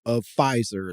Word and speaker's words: Pfizer: COVID, get vials of Pfizer, let's say, that are basically meant to be dedicated. You're already off course on Pfizer. You're like, no, I'm not here for Pfizer. Yeah. The P is silent, whatever.